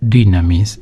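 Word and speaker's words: δύναμις: Entre tantas definiciones respecto de Dios, se habla con un término griego que Dios es dynamis, así se pronuncia.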